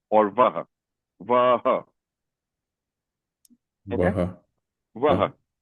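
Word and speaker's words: वह: So you can call it w or vaha. Va. Va. So va is very standard form. and vo that's a colloquial pronunciation colloquial pronunciation.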